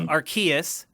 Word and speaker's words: Arceus: I think it's Arceus. Arceus, the hard C? I think that's a hard C. Okay. Yeah. Pokemon Legends Arceus coming to Switch.